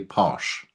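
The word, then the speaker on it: Paush: The proper pronunciation is obviously posh.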